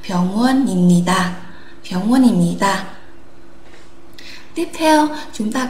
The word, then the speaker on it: 병원입니다: Thế thì chúng ta sẽ đọc nối cái phụ âm cuối vào đây, nối phụ âm cuối với nguyên âm thì chúng ta sẽ đọc là 병원입니다. Không phải là 입니다 mà là 병원입니다.